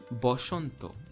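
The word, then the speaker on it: বসন্ত: not a it's o therefore the hindi word vasanth which in sanskrit would be vasantha bengali becomes boshanto we again we get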